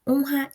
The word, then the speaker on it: honra: A gente vai observar o exemplo, deixa eu votar, Honra e Israel. O som é igual a esse primeiro, né, de rato. Ele tem um som forte de r, r.